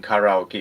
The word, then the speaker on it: karaoke: Only the Finnish people and Japanese people sing karaoke as a country or a population. I like that you pronounce it properly too, karaoke, because let me